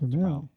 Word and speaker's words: Turmel: Is that correct? Turmel. Turmel. Okay. The emphasis is on the last syllable.